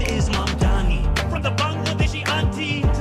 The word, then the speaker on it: Mamdani: The name is Mandami.